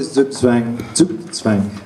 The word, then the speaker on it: Zugzwang: Well, to go to Zugzwang, as generally told it's pronounced, it's a term in chess, and it means that whatever move you make only makes your position worse.